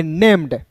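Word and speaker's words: named: तो एन ए एम ई डी को पढ़ेंगे नेम्ड।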